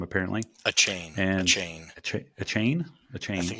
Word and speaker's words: Achane: We have Christian McCaffrey, Raheem Mostert, Travis Etienne, Devon Achane. That's how you pronounce his last name, apparently. Achane. Achane. Achane.